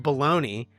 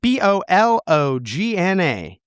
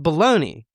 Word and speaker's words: Bologna: In 1576 in the city of Bologna, I have a suspicion it isn't pronounced like the oversized sliced hot dog meats that are flowing flowing around these great United States.